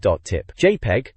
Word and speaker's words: JPEG: JPEG, pronounced JPEG, is the name of a still image compression specification, but here remember it as an image displayed on the internet.